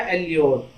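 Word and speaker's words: allure: तो इसे सही से इसका प्रोनाउंसिएशन क्या होगा, एल्योर।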